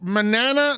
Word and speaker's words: Manana: j Brook Logan Manana that's Manana not banana not Tanana none of that I